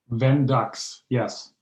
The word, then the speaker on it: Vendux: And your company name, to pronounce it right, is it Vendux? Vendux, yes.